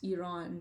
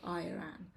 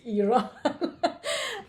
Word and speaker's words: Iran: to my students to pronounce Iran the right way and not Iran and so step one pronounce pronunciation I always say like repeat after me it's Iran and then I mean